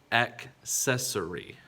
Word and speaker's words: accessory: it accessory or accessory it is accessory there is a k sound in there that is accessory accessory